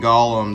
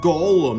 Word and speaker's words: Golem: pronouncing his name wrong it's Golem not Golem oh number nine Arbok